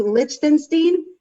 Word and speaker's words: Lichtenstein: you say your name lichtenstein lick like lick lollipop like tinstein ken steen lichtenstein i'm good at that